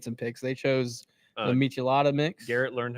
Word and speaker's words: Michelada: They chose the Michelada mix. Garrett learned how to pronounce Michelada. Oh, he was having trouble with that one. Yeah, he was calling it Michelada, like a Michelob.